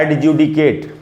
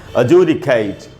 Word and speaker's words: adjudicate: इसका सही उच्चारण होगा दोस्तों अजूडिकेट, अजूडिकेट। जू में जो ऊ है, ज में बड़ा ऊ, उसी पर स्ट्रेस है, वहीं ज़्यादा रुकना है।